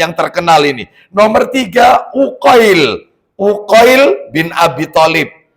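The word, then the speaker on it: Uqail: Nomor tig Uqoil. Uqoil bin Abi Thalib. Uqoil pakai Qi. Uqoil. U Q A I L UL ya Uil bin Abi Thalib berarti sudah ya geser nomor berapa sekarang?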